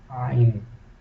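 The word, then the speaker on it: ع: This letter is pronounced from inside your uh, throat. In the alif is pronounced is coming from inside. So when alif is pronounced, there is no what is called restriction in your throat. The air comes easily. But when ain is pronounced, the restraint, a force, and the throat is restrained to squeeze and make the sound.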